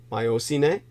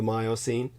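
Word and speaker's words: Miocene: world was enjoying the myocene the depending on how you pronounce it myocine but probably more correctly the myocene Kenya which we were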